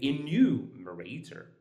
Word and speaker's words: enumerator: that means that -ter, and then you count two syllables before that, that's exactly where you put your stress. Um so, let's see. So, if we have enumerator, you say enumerator.